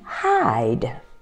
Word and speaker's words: hide: Pronounce these two words, hid and hide. Hid and hide. So what magic letter makes the I in hide long sound? I, that magic E.